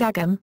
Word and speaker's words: agam: There is also a tendency to omit the g sound in words such as agam, agat and again, a characteristic also of other Connacht dialects.